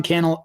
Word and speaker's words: Cannell: to serve and so my name is Cannell rhymes with YouTube channel you can find